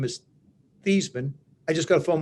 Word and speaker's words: Theismann: think by just simply changing the pronunciation of your last name from Theismann to Theismann to rhyme with Heisman, we can get you that trophy.